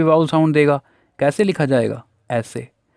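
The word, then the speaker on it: vowels: कुछ बच्चों ने इसे वोवेल्स पढ़ा होगा, तो गलत प्रोनाउंसिएशन, अभी तक हमने चीज़ों को समझा है, उसे आपको ठीक करना है। ठीक करने का ही नाम लर्निंग होता है। तो ये वाउल्स होता है और ये कॉन्सोनेंट।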